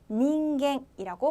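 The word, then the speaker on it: 人間: 발음했던 지강 하시면 되겠고요 그리고 인간이라고 할 때 닝겐이라고 발음해 주시면 되겠습니다 그리고 훈독 그론 사이라고 해서 아다라고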